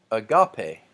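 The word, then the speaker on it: ἀγάπη: to you agape agape so there is a smooth breathing mark I don't pronounce an H and then the emphasis the emphatic mark that is over the second alpha which tells me that this isn't a gupty or I got pay this is agape and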